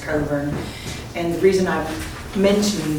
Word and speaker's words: Cockburn: but I knew absolutely her name is pronounced governor and the reason I'm